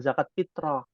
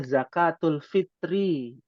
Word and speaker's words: zakatul fitri: fitrah atau zakat Fitri ini juga salah nih pengucapannya bukan zakat fitrah namanya zakatul Fitri ya zakatul alfitri